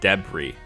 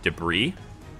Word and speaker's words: debris: love when i say debris because the american pronunciation is debris and uh pretty much like all international it's it's debris it's just i think